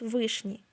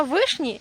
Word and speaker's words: вишні: Ми не можемо сказати про дерева чи ягоди, кількість яких становить два та більше, використовуючи наголос на флексії, бо він описує тільки незначену кількісні предмети, чого не скажеш про наголос вишні, який є універсальним. Мабуть, саме тому йому і віддають перевагу.